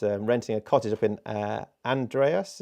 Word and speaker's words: Andreas: a cottage up in Andreas. Is that how you pronounce it, Paul? Almost, Andreas.